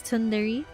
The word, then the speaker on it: Tundere: But yeah, if you're wondering how to pronounce, it's Tundere. Um, it's a word play between Sundere and Re, which is my name.